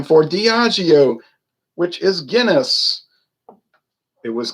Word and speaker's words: Diageo: changed the name to Diageo, which I notice a lot of people that do videos have trouble pronouncing that word. They call it Diego and everything else.